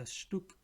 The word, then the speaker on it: Stück: The Stück, Stück, Stück, the Stück. C silent again, meaning peace.